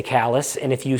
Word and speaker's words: Calais: that we pronounce kallus it's spelled like Calais you know in France but they say callus and if you say hey can you give me directions from to uh Calais they'll be like we